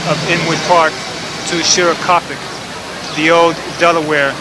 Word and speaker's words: Shorakapok: Shorakapok.